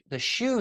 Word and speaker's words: xu: You know, if you're stressed, there is a sound called the shu sound. It's spelled XU in Chinese, but it really sounds like shh, like shushing, right?